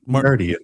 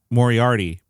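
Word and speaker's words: Moriarty: How do you say it? Mor Mori Arti. I added an extra syllable.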